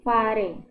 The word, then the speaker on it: fare: Jadi dalam bahasa Turkinya tikus, ya sebagai contohnya, bahasa Turki tikus yaitu fare. Fare, ya, jadi pengucapannya sama, kurang lebih seperti kita mengucapkan kata nafas.